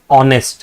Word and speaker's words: honest: But see when you pronounce this word it says honest right? The word that is coming out is o that is why we